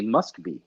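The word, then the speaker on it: Москва: be or Moscow because Russians don't say Moscow Russians say must be you know I mean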